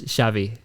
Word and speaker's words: Xavi: on it, but it's Xavi.